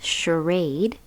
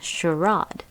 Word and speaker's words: charade: The next word is charade, or there's a different way to say this. Some people, especially in the UK, can pronounce it as charade. So you can say charade or charade.